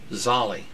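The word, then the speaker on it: Zelus: You say that Latin-wise, pronouncing the terminal vowel, Zolli.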